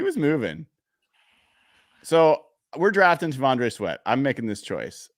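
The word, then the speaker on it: T'Vondre: Tavondre.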